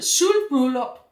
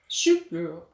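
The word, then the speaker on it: sølvbryllup: So it's the, and how do you say this in Danish? 25th wedding anniversary? The 25 Schulbryllup. Schulbryllup.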